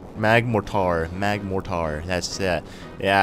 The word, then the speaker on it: Magmortar: paused the video like he said magmotor let me let me correct him no mag Mor Magmortar mag morar that's that